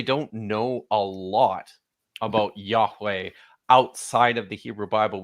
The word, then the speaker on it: Yahweh: And that's one of the mysteries still, is what this name, the name of this God, sounded like. I think the best bets are probably still Yahweh, or YeHoWaH. Seems to be a very likely candidate.